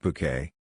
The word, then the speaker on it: Bucket: It's pronounced bouquet, it's from French origin.